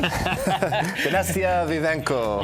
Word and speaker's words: Dinastia Vivanco: Dinastia Vivanco. You got to throw a little bit of a little flair when you say it.